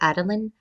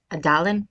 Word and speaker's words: Adeline: I think her name is actually Adeline and not Adalin.